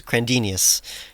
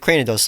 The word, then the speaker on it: Cranidos: what's crazy is that so you famously infamously mispronounced cranny dose's name as crandinius yes like four years ago and then recently